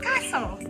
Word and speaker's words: castle: Another example is the word castle. Like someone says, you're building castles on earth. So that letter T in that word is silent.